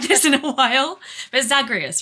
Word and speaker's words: Zagreus: I haven't played this in a while, but Zagreus, right? That's his name, Zagreus.